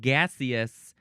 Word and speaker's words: gaseous: You could also pronounce it gaseous if you like that particular S sound, gaseous. Or just gaseous.